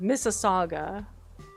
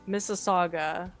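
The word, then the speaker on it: Mississauga: Anyways, this one, for those of you who guessed, is pronounced Missaga. Don't make me humiliate myself. This is not a challenge. This is going to be an Arkansas Arkansas's Kansas situation. That one's pronounced Missaga.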